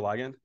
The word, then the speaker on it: ligand: You said versus ligand or ligand? Both are fine.